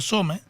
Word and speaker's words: Csome: Que justo ahí se cortó la comunicación, si es Alejandro Some, ¿sí? Sí, está perfecto así.